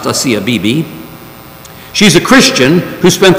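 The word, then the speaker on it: Asia Bibi: recent release of a CFPB it looks like Asia bye-bye but it's pronounced hacia Bibi she's a Christian who spent the last eight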